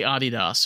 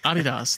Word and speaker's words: Adidas: is what Americans do we mispronounce anything that's in German is mispronounced in the United States everything you know I say Adidas they like what the is that I'm like Adidas and they're like I